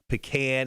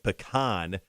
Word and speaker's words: pecan: Going back to the great debate of the pecan and pecan, Dennis goes, but they are both correct.